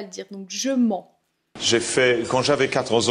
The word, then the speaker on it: mens: Alors, toute petite difficulté sur la prononciation de ment. Je mens pas. C'est une nasale, c'est assez dur à prononcer les sons on, un, en.